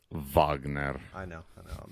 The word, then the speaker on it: Wagner: so it's pronounced Wagner I know I know